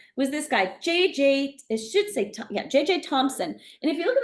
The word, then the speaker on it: Thomson: Thomson. And if you look at the way his name is spelled, usually the last name Thomson is Thompson. There's no P in his name. He's J.J. Thomson. So he had experiments.